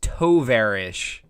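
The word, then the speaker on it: товарищ: on this um oh tyrone says it's pronounced tovarish okay tovar toverish all right thank you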